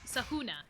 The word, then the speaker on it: Sahuna: Sahuna is technically how you say her name.